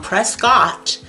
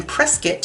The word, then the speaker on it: Prescott: for someone to chew me out that I was pronouncing their town Prescott in my videos rather than prescuit how that person wanted me to decide or how to pronounce it and you know the phone rings at 1:30.